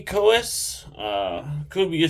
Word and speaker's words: Coeus: so um the first one is a kubi koas uh could be a spell k-u-b-e-y cohes is spelled c-o-e-u-s um so I have never um